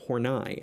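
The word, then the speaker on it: Horney: alfred adler carl jung eric erickson and karen hornai as i've learned it's pronounced we're going to talk about the personal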